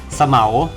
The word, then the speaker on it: เสมา: ห้อง กัน นะ ครับ สะเหมา อ่าน ว่า สะ เหมา สะเหมา อ่าน ว่า สะ